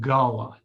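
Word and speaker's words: Gullah: doctors and the golas is it cool is that how you pronounce it we pronounce it gala gala thank you i saw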